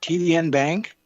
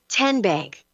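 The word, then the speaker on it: TNBank: TDN Bank? Nope. Tin Bank? Uh-uh. So what is it? 10 Bank. 10, as in Tennessee.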